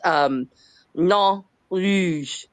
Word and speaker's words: Nain Rouge: And I had to look it up to see how to pronounce it because I'm, it's French. But according to what I found, it's Nain Rouge.